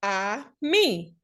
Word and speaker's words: ami: The word is ami, my mom say. You say it like this, I, me.